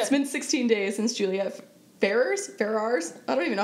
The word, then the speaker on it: Ferrars: It's been 16 days since Juliette Ferrars? I don't even know how to say her last name. I say Ferrars. Ferrars. Like Ferrari.